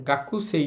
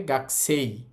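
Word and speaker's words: 学生: শব্দটার উচ্চারণ গাকুসই ছিল। তো গাকুস না হয়। এটার উচ্চারণ হবে গাছেই।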